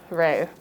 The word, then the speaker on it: Re: limestone usually, painted gold for the sun god, Re. What? Re. Ra-Re. It's pronounced Re though.